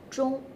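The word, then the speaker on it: 终: In Chinese, clock, 钟, shows the same pronunciation as the end, 钟.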